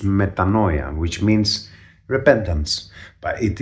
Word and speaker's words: metanoia: In English it is pronounced metanoia, which means repentance.